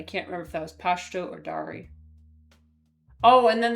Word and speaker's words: Pashto: It always bothered me when people said Pashtu. I'm like, where's the U? Where's the U in Pashto? Maybe that's what they when my client said the word, they didn't pronounce it that way.